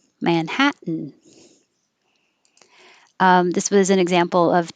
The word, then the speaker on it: Manhattan: Manhattan is another one where you have the n noise. So it's 3 syllables. Manhattan, Manhattan.